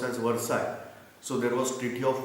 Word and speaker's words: Versailles: That there was Treaty of Versailles, spell out as Versailles but pronounced as Versailles.